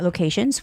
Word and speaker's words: location: destination and information okay anytime when a word has Tio n ending the stress goes on the syllable in front of t n so location trans sorry